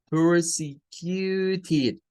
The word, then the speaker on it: persecuted: Persecuted, persecuted, tendría siendo las 4 sílabas de esas.